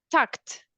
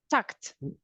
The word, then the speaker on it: talked: Talked. Tucked, like a T. Tucked.